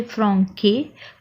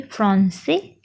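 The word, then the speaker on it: français: सो यहाँ पे देखिए सी के बाद ए हार्ड वोवेल है तो होना चाहिए रूल के हिसाब से फ्रांके, पर सी के नीचे मार्क है सिडेला, ये एक एक्सेंट होता है। सो उससे फ्रेंच वर्ड जो भी हो तो उसका प्रोनाउंसिएशन में क ना होते हुए स बन जाएगा, तो पूरा वर्ड हम पढ़ेंगे फ्रांसे।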